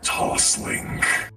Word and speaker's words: TOSLINK: it's my cables are toss link you said toss link I believe is how it's pronounced my cables are toslink there we go have